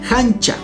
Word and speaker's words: hancha: Sobrino o sobrina se dice hancha. En la escritura se hace con H, pero en quichua se pronuncia con J.